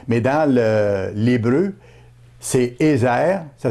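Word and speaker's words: עזר: français c'est aide mais dans le l'hébreu c'est eer ça s'écrit e Z e r le mot Hébreux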